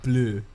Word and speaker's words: bleu: Wait, in French it's blue. Is it really blue? It's blue. It's blue, but okay, the spelling's a little different. Is it like an I? It's like bleu.